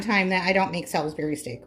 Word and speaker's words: Salisbury: Now, I know some people pronounce it salsberry steak, but I don't I don't know why. I'm in Michigan. Maybe it's a geography thing. I don't know, but we say salsberry steak.